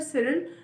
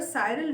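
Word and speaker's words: Cyril: वो सर सिरिल या सर साइरल Radcliffe, whatever you guys want to pronounce it, whether you guys pronounce it with सिरिल Radcliffe और you guys pronounce it with साइरल Radcliffe, there are 2 pronunciations.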